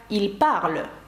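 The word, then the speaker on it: ils parlent: Тобто, щоб сказати «вони розмовляють», французькою це пишеться ось так і вимовляється як «il parle».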